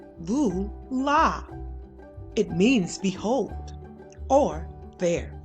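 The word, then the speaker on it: voilà: read the small print bula is french you pronounce it Lu la it means behold or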